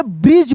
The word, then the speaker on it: bridge: जैसे यहाँ पर देखिए लिखा है BRIDGE, यहाँ पर डी जो है यह साइलेंट लेटर है। क्या है? साइलेंट है यानी डी का उच्चारण नहीं होगा। यहाँ पे ब्रिज पढ़ेंगे। क्या पढ़ेंगे? ब्रिज। ब्रिज यानी डी का प्रोनाउंसिएशन नहीं हो रहा है, भले लिख रहे हैं लेकिन पढ़ नहीं रहे।